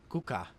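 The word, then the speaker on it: 국가: When this happens, the consonant will become doubled, so the word on the screen is pronounced kuka. Similarly, this word meaning legal is pronounced habot.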